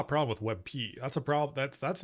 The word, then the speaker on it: WebP: Webp is pulling ahead.